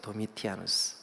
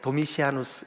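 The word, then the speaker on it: Domitianus: 도미티아누스. 이게 이제 발음이 조금 이렇게 다르게 도미시아누스 이렇게 하시는 분들도 있지만 같은 이름이에요.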